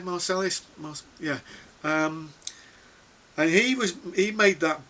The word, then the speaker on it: Marsalis: Is that how you pronounce his name? Marsalis?